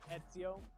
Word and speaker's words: Ezio: couldn't well i couldn't i know now that it's that it's uh ezio because of the way it's pronounced in italy see there you go